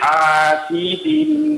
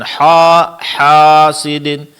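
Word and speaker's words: حاسدٍ: Ya, seperti hasidin bukan haidin tapi hasidin. Nah, hasidin. Iya. Sehingga bunyi hannya itu tetap tipis, tidak tertebalkan.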